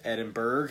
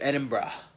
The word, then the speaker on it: Edinburgh: pronounce thought it was Edinburgh at first then Edinboro none of those are right its Edinburgh apparently that's how you pronounce it if you're a true Scotsman but the thing that